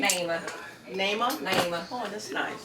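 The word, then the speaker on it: Neima: Naima. Naima? Naima. Oh, that's nice. Naima.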